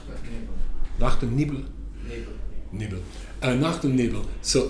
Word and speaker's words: Nacht und Nebel: Did I pronounce that correctly? Nacht und Nebel.